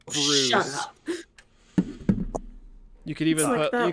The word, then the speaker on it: Bruss: Last name BRUSS, pronounced Oh, Bruce.